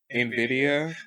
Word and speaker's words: Nvidia: What? Nvidia. Nvidia. That's what it. That's how you say it. Yeah. What Nvidia. you said? I said Nivea.